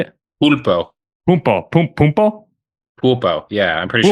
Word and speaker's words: pulpo: Was it punto? Is that how you say it? Pulpo.